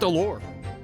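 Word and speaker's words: alors: You don't pronounce the S at the end of allure. Zoot allure.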